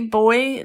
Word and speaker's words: buoy: And it is really confusing because do you know the way Americans say buoy, like the boat buoy? Yeah, the pronunciation's very different.